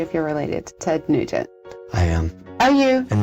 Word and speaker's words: Nugent: And Nugent is kind of French too, Nugent. I'm not going to ask you if you're related to Ted Nugent.